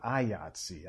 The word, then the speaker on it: IATSE: had down here was say the word yahtzee it rhymes with ayatsi i mean i just